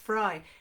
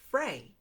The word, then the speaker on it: Frey: yes fry yes just said it's pronounced fry i grew up in switzerland and there's very lovely chocolate delicious chocolate called the manufacturer is the name is fry f-r-e-y but i would